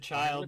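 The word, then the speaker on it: Childe: it was it's child they pronounce it child the big name a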